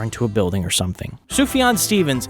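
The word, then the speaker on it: Sufjan: Sufan Stevens, it's pronounced Sufian just so you don't embarrass yourself in a record store.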